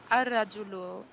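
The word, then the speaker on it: الرجل: Ar-Rajulu, the man.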